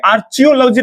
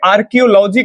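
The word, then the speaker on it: archaeology: अब कई लोग को लग रहा होगा कि ये आर्चियोलॉजी नहीं पढ़िएगा, यहाँ पे आर्कियोलॉजी कहा जाता है, क्योंकि एच जो ये देख रहे हैं ना, ये साइलेंट रहता है, मतलब हम लोग उच्चारण में उस वर्ड का इस्तेमाल नहीं करते हैं।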